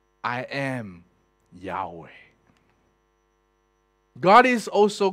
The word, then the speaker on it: Yahweh: of what is used to call it jehovah jehovah is a way of you're trying to pronounce the word with adding the word of